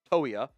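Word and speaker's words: Toia: You got pronounced that correctly. It's to uh yeah toya.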